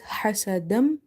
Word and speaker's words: حسدا: Ha is from the middle of the throat. So try to pronounce it by opening the mouth wide and try to exhale the air out.